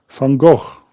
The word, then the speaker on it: Van Gogh: Vincent Van Gogh.